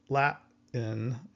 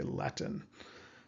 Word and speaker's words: Latin: We actually just stop our breath Latin and we kind of hear this T but it's not really there.